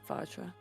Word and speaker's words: Vajra: Is that how you say her name? Vajra. Vajra, yeah.